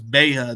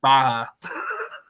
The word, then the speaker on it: Baha: Sometimes I even get it mispronounced sometimes, but now I know it's Beha, not Baha. Well, I mean, it's an Arabic name, so it might be Baha, but it's I've always went as Beha.